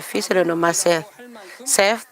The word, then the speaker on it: Seth: Seth, dont la prononciation est proche du chiffre 3 en coréen.